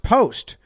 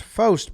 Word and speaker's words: Fost: Pronounced Post. Interesting. I always thought it would be pronounced Fost because I know Fister with the P in front.